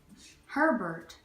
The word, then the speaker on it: Herbert: and Hoover President Hoover you say his name like Sherbert but like she can took off if you replace Herbert Herbert yeah okay and